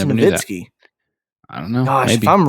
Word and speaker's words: Nowitzki: you saying novinski or nowinski uh so it's pronounced novitskiy dirk novitskiy dirk nowitzki i'm pretty sure it's navinsky i don't know maybe i'm wrong hey no